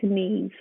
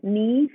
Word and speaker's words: Niamh: l d and then neave is spelt n i a m h so the m and the h in the irish language when they come together they pronounce the v so biofuels with me